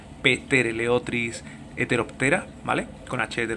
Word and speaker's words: Ptereleotris: unos peces muy bonitos se llaman trl otris empezando por p lo que pasa es que la pena se pronuncia petter l otris hetero pera vale con